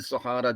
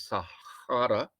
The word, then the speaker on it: Sahara: the unknown beyond the sahara desert it is sahara not sahara it's an arab world with the soft g you will see south